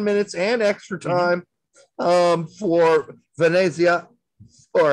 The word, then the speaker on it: Venezia: Tanner Tessman also played for 10 minutes and extra time for Venezia, or as told by an Italian, I need to do Venezia. That's how I'm supposed to pronounce that.